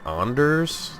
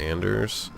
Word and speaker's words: Anders: be a cop also I believe it's pronounced onder's as a fan of work holics they make a big point of it being pronounced onder's and not Anders yeah honors would be